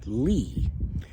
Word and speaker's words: Lie: And a big part of that is uh that I'm looking into right now is uh Lee Groups Lie E, but it's a Norwegian name pronounced Lee mathemat Norwegian mathematician towards the end of the 19th century who came up with this math.